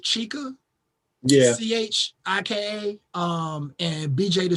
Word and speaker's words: Chika: And it's I think her name is pronounced Chica.